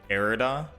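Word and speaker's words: Irida: pronouncing it correct with erida like era but with a d yeah like I said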